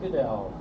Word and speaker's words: Goodell: Goodell. Did I pronounce that right? Goodell, that's right, Goodell.